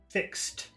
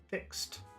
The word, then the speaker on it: fixed: blue form a fix fixed fixed that's difficult for people to pronounce what you do is you say fix stop fix T fix T fixed fixed you always take the